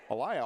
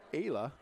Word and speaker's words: Aya: Bud from Lamar's Galen I've been saying her name AIA all night it's Aya I take a look